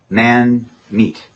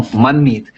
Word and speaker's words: Manmeet: Manmeet. Man meat. No, Manmeet.